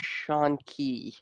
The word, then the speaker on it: Shanky: mean it's a put it's supposed to be pronounced sean key after the yeah it's not supposed to be pronounced like oh somebody's getting all stabby you shake with a